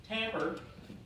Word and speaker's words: timbre: for comb color is Hamburg alright not pronounce like it looks like it is timbre Tambor is a quality it's